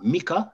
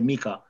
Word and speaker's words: Micah: remains the same huh you call micah we say michael but that thought i heard you say mika mika yes okay that's fine